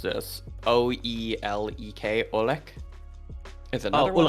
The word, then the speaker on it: ulek: Yeah, so you actually pronounce the O and E together as U. So it's U. Olek. It's like a U.